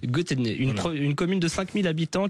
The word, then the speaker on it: Götene: Je le prononce certainement mal. On dit Götene. Götene, une commune de 5000 habitants qui a décidé